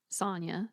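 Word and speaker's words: Sanya: And then our male main character, his name is Sonia, spelled S A N Y A.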